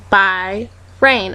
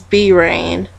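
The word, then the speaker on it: Bi Rain: across his name and his name was by rain or that's what I thought before I realized I was pronouncing it wrong for like a year it's B rain um but anyway rain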